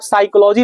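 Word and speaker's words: psychology: है साइलेंट होता है उसी तरह आप साइकोलॉजी लिखेंगे ना तो साइकोलॉजी में आपका पी साइलेंट होता है सुनामी लिखेंगे ना तो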